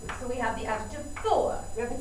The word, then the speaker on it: fort: our masculine singular form four to make it feminine we added e up here in four we don't pronounce the T even though we still have to use it to spell the word in the feminine form